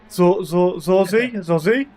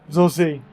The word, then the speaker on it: Zozi: Zozi. The I is like double E. Zozi.